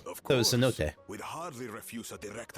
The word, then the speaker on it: cenote: I didn't know the emphasis was on the first syllable. Of That was course, Cenote.